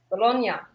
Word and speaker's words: Bologna: my home country but we don't pronounce it with an e it's a ya bologna that's why i'm confused